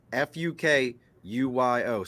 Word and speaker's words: Fukuyo: And look, I pronounced that Fukuyo. So for y'all think that I'm messing with somebody's name, nope. The man's last name is Fukuyu.